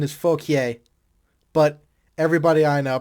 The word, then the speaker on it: Fauquier: The French pronunciation is Fauquier, but everybody I know pronounces it fuck your high school.